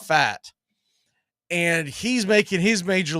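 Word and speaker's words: Pfaadt: Texas Ranger Rangers and his last name is spelled p-f-a-a-d-t but it's pronounced fat and he's making his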